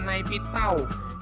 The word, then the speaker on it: Naypyidaw: yaitu nightmare nightmare Doh tulisannya naypyidaw Tapi bacanya naik tahu yang lama bernama Yangon